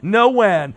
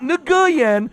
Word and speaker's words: Nguyen: No win. Not Nguyen for you amateurs that don't know how to say his last name.